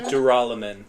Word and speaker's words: Duralumin: I think Duralumin. Oh my goodness, this name in my mind was I duralinium. don't even know. Yeah, I don't even know what it It's is. duraluminum.